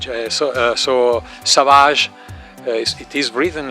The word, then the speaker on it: Savage: Savage and I uh took his name but with the French pronunciation so so Savage it is written like in English but Savage so it it was